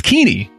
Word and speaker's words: Keeney: It's Keeney, not with an L. No L's silent or otherwise.